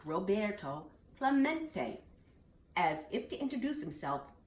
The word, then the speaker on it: Roberto Clemente: at bat he heard the announcer stumbled through a Spanish named rob a row see tote Clermont it echoed in the near empty stands Roberto Clemente was his name and this is pronounced Roberto Clemente as if to introduce